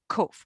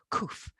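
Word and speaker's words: קוף: So it's a kaf and a vav put together, and that's called kof. Or some people pronounce it kuf.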